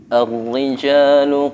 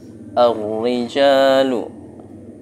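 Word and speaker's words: الرِّجَالُ: Ar-rijalu qawwamuna 'alan nisa. Ar-rijalu. Pembacanya apa? Alif lamnya tidak terbaca, langsung ke huruf ro.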